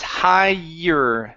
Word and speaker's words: higher: right here we have the word higher instead of higher it's higher so the GH does not make a sound higher higher all right